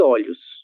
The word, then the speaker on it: olhos: Lembrem-se da diferença em relação à pronúncia de algumas palavras que têm O no singular em relação à sua mesma forma no plural. Olho, olhos. O O ele se abre quando nós vamos mudar do singular para o plural.